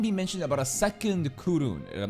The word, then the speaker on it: Kowloon: Colon? Nah, Kowloon. That's what the Japanese are pronouncing it.